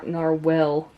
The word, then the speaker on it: narwhal: I'm pronouncing this correctly it's n narell there's no e at the end narwhal I think um